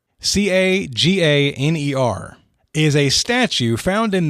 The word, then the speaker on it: Caganer: but according to the pronunciation key that I worked with, a Caganer, Caganer, is a statue found in nativity scenes in